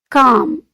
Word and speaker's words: calm: in the word calm the letter L is silent so we pronounce it as c a m calm calm and patient we are